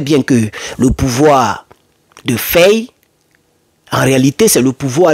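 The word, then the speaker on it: Faye: le duo Ousman et feille ou faille on dit on dit on a on prononce à feille et c'est un duo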